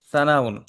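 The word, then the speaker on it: ثناء: সানা না শব্দটা সানা সানাউন আমরা সানা বলি বাংলায় বাট আসলে সানা না শব্দটা উচ্চারণটা হবে সানা সানাউন সানা আলিফ বা তাছা এটা কিন্তু স বললে হবে না এটা সাউন সানাউন মানে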